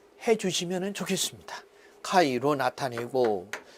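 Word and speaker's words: χ: 답은에서 자화의 세기는 카이분의 x, 이거는 카이라고 읽습니다.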